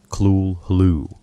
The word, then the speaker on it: Cthulhu: Consider the word cthulu. Lovecraft offered multiple pronunciations in his letters, clu roughly, while insisting that no human vocal apparatus could produce the sound correctly.